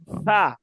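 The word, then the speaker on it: ف: হ্যাঁ ঠিক আছে ফা ফার উচ্চারণ কিভাবে পড়ছিলাম মাখরাজ নিচের ঠোটের পেট নিচের ঠোটের পেট সামনের উপরের দুই দাতের কিসের সঙ্গে লাগাইয়া আগার সঙ্গে লাগাইয়া ফা একটু হালকা বাতাস বের হবে আলিফ দুই জবর ফান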